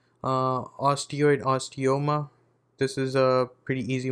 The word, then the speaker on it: osteoma: we are on to osteoma okay uh this is uh you pronounce it like imagine a person who's into yoga right and they say oh like that and when they're doing